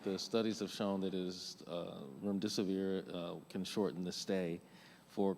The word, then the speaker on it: remdesivir: Now, there is another drug, hope I pronounced correctly, remdesivir?